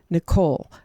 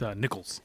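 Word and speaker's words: Nicholl: It's Nickels. Nickel. It's Nickels. Yeah, Nickels like with an S. Uh, it's nickel. Sorry. But yeah, it's pronounced like the coin.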